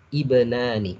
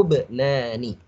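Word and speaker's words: ابنان: Kalau mau disukunkan, kalau mau diberhentikan ibnani. Kalau mau lanjut lahu bnani. Karena ini alif ya. Ini bukan fathah di sini. Jadi ini sukun mati ya. Jadi bacanya lahu bnani atau lahu ibnani begitu.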